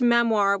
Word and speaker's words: memoir: She pronounced memoir with a soft R, memoir, and talked about hers constantly.